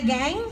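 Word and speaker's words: qeej: Is it the gang? How do you pronounce it?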